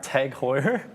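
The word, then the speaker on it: TAG Heuer: heard that tag aware how do you say it tag hoyer you were you were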